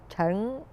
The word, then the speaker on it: Chen: would Okay, you in proper Mandarin pronunciation is Chen, Chen, like Chang, Chen, Chang.